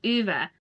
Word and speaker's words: Ove: Yes, I know, a lot of people have said it's meant to be pronounced Uva.